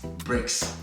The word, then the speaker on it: BRICS: Africa bricks all right so it's spelled as b-r-i-c-s bricks this country have come